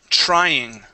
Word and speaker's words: trying: go to the word trying okay now with the TR there okay replace the TR with a CHR okay and try TR trying trying there you go that's